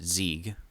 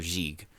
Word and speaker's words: Sieg: Well, they pronounce it Zieg, like, or Zig. But yeah.